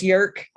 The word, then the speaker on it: Jerk: Jerk, you were next. I just want to say it's Yerk. The J. Yerk.